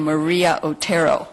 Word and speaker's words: Maria Otero: claudo doesn't know that in this country I pronounce my name Maria Otero but it's it's very good to have it said Maria Otero uh it is really